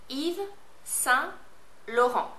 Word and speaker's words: Yves Saint Laurent: Just say it phonetically like I say it. All right, let's start. Yves Saint Laurent.